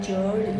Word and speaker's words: GERD: इसको हम medical language में जर्ड या गर्ड कहते हैं। कुछ लोग जर्ड प्रोनाउंस करते हैं, कुछ लोग गर्ड प्रोनाउंस करते हैं, ठीक है।